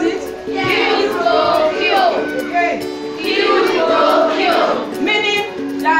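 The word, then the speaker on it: quid pro quo: Kill, pro, kill. Can we pronounce it? Kill, pro, kill.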